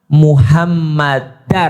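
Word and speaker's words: مُحَمَّدًا: Contoh di dalam azan, ashadu anna Muhammadar Rasulullah. Kenapa Muhammadar? Karena ada anna, ashadu anna muhammadar rasulullah. Kalau tidak ada anna berarti bacanya Muhammadur.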